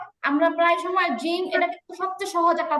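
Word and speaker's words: جيم: কিন্তু আরবিতে যখন আমরা জিম বলবো, তখন হচ্ছে জিহ্বাটার পুরো আগা না, আরেকটু মানে মাঝখান থেকে উপরের দিকে লাগে। এই জন্য উচ্চারণের মধ্যে একটা ভাব আসে অন্যরকম।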